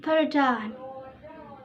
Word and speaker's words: paradigm: We pronounce it paradigm.